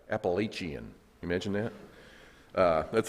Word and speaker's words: Appalachian: i'd like to talk to you about the appalachian trail the chaplaincy and how trusting the lord